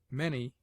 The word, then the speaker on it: many: Many is pronounced as if it were written manny.